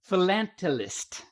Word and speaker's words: philatelist: And you, as an example, you said philatelist.